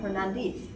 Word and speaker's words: Hernandez: So the Hernandez were the, or they pronounced the Z with that sound, Hernandez. They were the Christian ironsmiths.